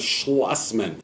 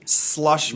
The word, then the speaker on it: Schlossmann: The name is Schlossmann. Schlossmann. No, people keep talking with the slush. The slush is with the snow. The Schloss is with the car dealership.